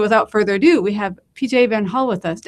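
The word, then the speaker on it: PJ Van Hulle: And so without further ado, we have PJ Van Hull with us. Am I pronouncing your name correctly? Or is yes, it PJ Van Hull.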